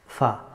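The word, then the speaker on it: فاء: F, f, fa. The letter of fa pronounced from tip of the front two teeth and straight down to lower lip.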